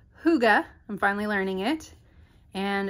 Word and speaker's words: hygge: the bottom label so gorgeous and this is pronounced hygge i'm finally learning it and this is the